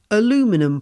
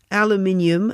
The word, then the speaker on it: aluminium: Now, if you're in America, let me translate, that's aluminum plant. Yes, here in the UK, we do pronounce aluminium as aluminium because we spell this word with two I's,